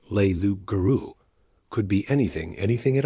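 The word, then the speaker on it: loup-garou: But Bill told them learu, which he pronounced leu guru, could be anything, anything at all.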